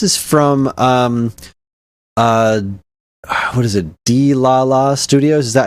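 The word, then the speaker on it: Dlala: D-La-La Studios?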